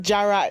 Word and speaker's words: Jara: Is it Jara, the Yoruba? The Yoruba Jara. Yes.